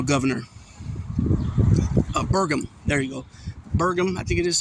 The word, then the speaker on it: Burgum: Burgum, I think it is how you say it.